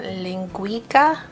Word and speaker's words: linguiça: This is a linguiça, I believe is how you pronounce it, mild Portuguese brand sausage.